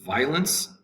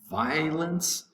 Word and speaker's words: violence: 22 is violence. Violence. The first syllable, violence. Violence, 2 syllables. Violence has 2 syllables.